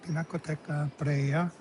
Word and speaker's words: Pinacoteca di Brera: All right, so I got the name wrong. It's Pinacoteca Pinacoteca di Brera.